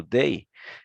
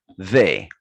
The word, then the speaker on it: they: Se você disser ele com som de D, por exemplo, day, eles vão entender a palavra dia, que é D-A-Y, né? Então não é isso. Então a gente tem que pronunciar correto. Então, ó, ponta da língua entre os dentes, they, they.